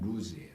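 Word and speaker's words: לוז: 이곳 원래 이름은 루스라고 그랬죠. 히브리 발음으로는 루즈예요. 루즈. 이 루즈는 똑같은 발음을 가진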